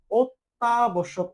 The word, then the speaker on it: অত্যাবশ্যক: এখানে ত জফলা আছে, আমরা যখন বলি অত্যাবশ্যক, অত্যাবশ্যক, এই যে দেখো, তোমার কিন্তু দুইবার ত বলতে হয়, এজন্য আমরা এখানে দুইবার ত লিখে ফেললাম।